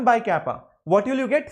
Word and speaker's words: kappa: It's not exactly k, it's slightly different. It's kappa, looks like k, that's all. Pronounced as kappa, this is pronounced as k, that's all.